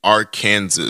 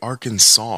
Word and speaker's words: Arkansas: would have made Kansas why don't we just say Kansas and Arkansas since they're spelled the same way why do we say Arkansas you ever hear your